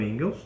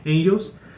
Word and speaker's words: Engels: Marx Carl Marx junto com engels ou Angels pronúncia certa é Angels Eles foram os fundadores